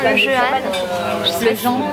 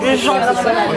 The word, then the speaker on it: Jehan: On est au restaurant Le Jehan. Le Jehan. Mais ça s'écrit Jehan, c'est pour ça que je dis comme ça. On m'a dit que c'était le Jehan. Ça s'écrit J-E-H-A-N. Donc c'est le Jehan.